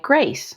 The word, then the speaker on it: Greys: My parents wanted people to pronounce my name correctly in Colombia. So, they spelled it g r e y s because phonetically in Spanish it sounds like Grace.